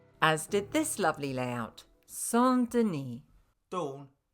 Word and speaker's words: Saint-Denis: As did this lovely layout, Saint-Denis. Dawn, it says St. Denis on the sign. It's French. Oh, okay. Saint-Denis.